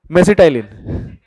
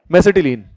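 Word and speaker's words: mesitylene: है उससे कनेक्टेड है, मेसिटाइलिन. मेसिटिलीन, है ना? इसको मेसिटिलीन बोल दो या मेसिटाइलिन बोल दो, जो भी बोलना बोल दो, प्रोनाउंसिएशन के नंबर नहीं मिलेंगे.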